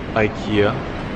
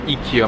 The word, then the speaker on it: IKEA: blue and yellow signature or eeka my bad yeah I looked it up it was actually a eeka ea to be exact yeah I've been pronouncing it wrong my whole life but anyways we are